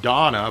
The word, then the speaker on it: Dana: It's Lacrimosa of Donna, but they spell it Dana.